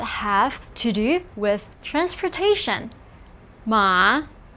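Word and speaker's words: 马: few characters that have to do with transportation ma pronounce with me ma this means horse and it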